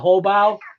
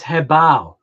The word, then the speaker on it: HoBao: And then Hobao, I think people call it Hobao, and then told that it was actually HU bow, like BOW, HUBOW, but it's actually not. It's actually HE. If you want the correct pronunciation of it, it's Hebao. So it's actually HEBOW. You know, that's the proper way, I guess, to pronounce that.